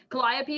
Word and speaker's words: Calliope: to say it yeah calliope is the the standard pronunciation for that name but it could also